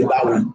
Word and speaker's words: Dawud: What's the proper way to say David's name? You said it with I'm trying to say it with a we say Dawud.